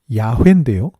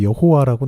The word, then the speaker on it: 야훼: 구약에서 나온 하나님의 이름, 이게 이제 야훼인데요. 우리말 성경에는 이제 여호와라고 나오는데 이건 이제 원래 자음에다가 주라는 단어 아도나이의 모음을 붙여서 읽은 것이고 아마도 원래 발음은 야훼인 것 같은데요.